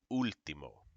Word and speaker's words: último: If there's an accent mark, that's where you're going to pronounce that the stress. Okay? So for example, in this word lápiz, or this one, instantáneo, último, it holds it there.